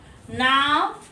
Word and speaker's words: नावें: नाव, नावें। यहाँ पर क्या है? एकार अनुस्वार। उच्चारण पर भी ध्यान देंगे। नावें, ए की जब उच्चारण आती है उसकी आवाज आती है यानी अनुस्वार।